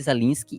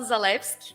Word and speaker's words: Zalewski: Eu geralmente falo Zalewski, mas também eu realmente não me importo com a pronúncia desse sobrenome.